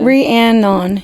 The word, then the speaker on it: Rhiannon: I feel like I got to go back and look at the REE-ANN-NIN. Yeah. Rhiannon. That's like to say it phonetically correct.